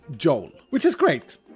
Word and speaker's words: Joel: also a Swedish name, I can say it the Swedish way, which would be Joel. Or Joel. Joel would be the Swedish way of saying it. You see, we don't pronounce J's with a D or J. We say J.